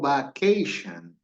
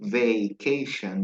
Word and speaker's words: vacation: As you could hear, como pudieron escuchar, nadie dijo vacation. They say vacation. That's the correct pronunciation, all right?